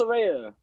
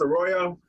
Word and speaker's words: Arroyo: Carlos Orea. There you go. Carlos Arroyo? Yeah, Carlos Arroyo, yeah. Y'all boys know the pronunciation.